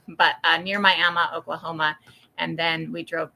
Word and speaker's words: Miami: I just learned that it's pronounced Miama not Miami when it's in Oklahoma but uh near Miama Oklahoma and then we